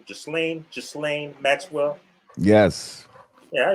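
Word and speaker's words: Ghislaine: let's segue into that uh how do you pronounce his name just lane just lane maxwell yes yeah he pronounced his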